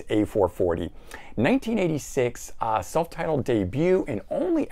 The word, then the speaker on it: A440: Next up, we've got a group called A440, and it's spelled A equals 440. Maybe even that's how it's said, but I've always heard it as A440.